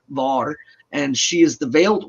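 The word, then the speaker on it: Vör: would say VAR uh it's spelled v-o-r but there's two dots above the O so it's an a u sound VAR and she is the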